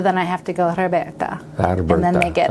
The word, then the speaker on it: Roberta: so, Roberta.